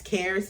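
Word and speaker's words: Xares: It's spelled X-A-R-E-S, CARES, but with an X.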